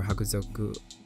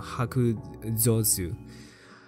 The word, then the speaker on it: Hakuzosu: And even if I do get another SSR unit, I guess the rate up for Hakuzoku. Oh shit, I've been saying his name wrong. Hakuzosu.